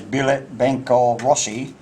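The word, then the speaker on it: Билет Банка России: This phrase, pronounced as Bilet Bankov Rossi, is found on the Russian ruble.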